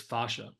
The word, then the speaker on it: fascia: you know what is fasha uh yeah great question and I'm Canadian so I actually pronounce it fascia just one of the differences so um I've been